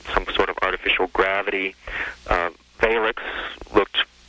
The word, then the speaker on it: Valix: And a Valix, this was spelled V-A-I-L-X, and the LX sound at the end sort of had a lick sound.